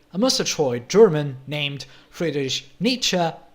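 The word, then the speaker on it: Nietzsche: In the 19th century, a mustroy German named British niche that's right that's how you pronounce his name was very critical of many groups in society like psychologists, scientists, religious people and so on.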